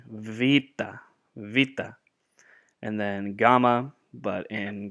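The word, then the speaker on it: βήτα: in the monetary gets Vita Vita so like a V Vita Vita and then gamma but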